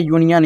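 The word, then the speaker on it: union: यहां पे क्या है यूनियन आपको ओनियन नहीं पढ़ना क्या पढ़ना है यूनियन यहां पे क्या है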